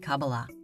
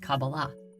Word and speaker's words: Kabbalah: in the Hebrew alphabet these four letters together are pronounced Kabbalah however the most common